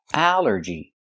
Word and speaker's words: allergy: It's three syllables. Allergy. The stress is only first syllable.